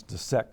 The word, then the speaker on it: dissect: our students to pronounce dissect correctly cuz uh a vowel follow followed by double s is short and when they pronounce